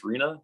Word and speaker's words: RHNA: what our rhna so we pronounce that as reena which stands for the